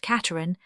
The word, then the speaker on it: Casterans: The intimates who came to play their game of cards of an evening, the Troisvilles pronounced Treville, the La Roche-Guyons, the Casterans pronounced Cateran, and the Duc de